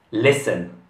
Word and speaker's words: listen: In questa parola non si pronuncia la T. È un verbo e significa ascoltare. Listen.